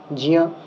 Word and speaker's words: জ্ঞ: তালু স্থানীয় বর্ণ জ, তো এই জ বর্ণের সাথে ইয় যুক্ত আছে, এটাও তালু বর্ণের, জ এবং ইয়, জিয়া। কিন্তু আমরা যে ঘিয়া উচ্চারণ করছি, এটা তো গকার হচ্ছে আপনার ক বর্গের, ক খ গ ঘ ঙ, তো অকুহ বিসর্জন ইহা কণ্ঠ্যাহা, গকার হচ্ছে আপনার কণ্ঠস্থানীয়। তাহলে এটা আমরা করতে পারি না, কারণ প্রত্যেকটা আলাদা আলাদা বৈশিষ্ট্য রয়েছে।